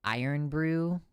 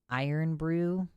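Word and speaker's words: Irn-Bru: It's usually pronounced iron brew. Iron brew. You're just making up vowels. There's no vowels in there.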